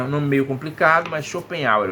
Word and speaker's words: Schopenhauer: Um nome meio complicado, mas Schopenhauer é o nome que a gente pronuncia. Diz assim, Schopenhauer, nascido na cidade prussiana de Danzig, atual Guznach,